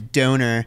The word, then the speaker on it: Dohner: But I'm similar to you in the sense I used to get my last name's Dohner and it rhymes with boner.